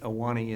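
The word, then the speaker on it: Ahwahnee: And Aulani is spelled A-H-W-A-H-N-E-E, which you learn when you live there as a kid.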